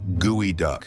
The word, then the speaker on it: geoduck: The geoduck, pronounced gooey duck.